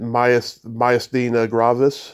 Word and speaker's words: myasthenia gravis: So let's talk about how you pronounce it, myasthenia gravis. Right, it's my ass, as in your tush, right? Yes. Myasthenia. Thenia as in senior.